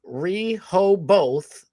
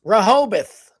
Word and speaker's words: Rehoboth: You would say Rehoboth, but it's Rahobath.